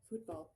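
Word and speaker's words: fútbol: I learned a lot about Mexican football that I football. The accent is on the U.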